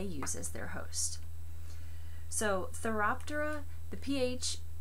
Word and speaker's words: Phthiraptera: as their hosts so therap Dora the pH I always pronounce it with the pH silence therap Dora is its name be sure you can